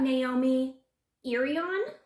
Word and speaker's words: Naomi Irion: today we're talking about naomi irion i think is how you pronounce that now she is missing